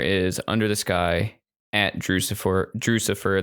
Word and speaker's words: Drewxcifer: Yeah, guys, you can find me on any social media platform there is under the sky at Drewcifer. That is DREWXCIFER. It rhymes with Lucifer.